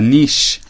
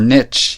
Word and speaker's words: niche: settle on in a niche or niche you can pronounce it either way untold you can't